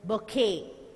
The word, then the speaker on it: bouquet: And here it is bouquet. That T is silent.